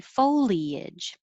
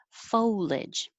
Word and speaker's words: foliage: on different lines because you have um options with the number of syllables you can say one two three foliage or shorter foliage and i put 18